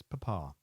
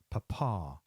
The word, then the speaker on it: Papa: P is papa, pronounced papa, papa. The stress being on the second pa.